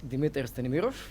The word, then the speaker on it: Dimitar Stanimiroff: have spoken to where I can actually pronounce my name the way it was supposed to be pronounced. So with that in mind, I already got introduced, but allow me to reintroduce myself. My name is Dimitar Stanimiroff, and I'm the managing